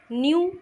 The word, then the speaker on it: knew: न्यू means जानता, KNEW, न्यू means जानता था. यहाँ पर के साइलेंट है बच्चों.